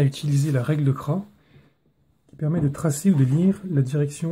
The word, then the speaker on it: Cras: invention à son inventeur jean cras avec un ps qui ne se prononcent pas et comme c'est